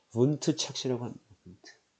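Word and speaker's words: Wundt: 이런 걸 분트 착시라고 합니다. 분트. 이게 독일어인가 봐요. 이게 W가 독일어로 V 우리 영어에서 V 그죠? V 발음이 좀 나거든요. V 발음. 그래서 독일어인가? 분트래요, 분트.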